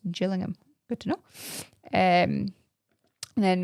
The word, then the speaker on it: Gillingham: There's another Gillingham and Kent which is pronounced Gillingham.